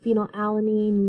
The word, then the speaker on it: phenylalanine: And all of these that end in ine are pronounced ene, so phenylalanine, leucine, isoleucine.